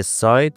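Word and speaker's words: sigh: بچه‌ها یک نکته کوچیک تلفظی کلمه ساید به معنی آه کشیدن رو خیلی‌ها اشتباه می‌خونن در واقع اون جی و اچ وسط کلمه خونده نمیشه و تلفظ درستش هست ساید ساید پس نگید سید هد یا سد بگید بریم ادامه داستانمون سرافنا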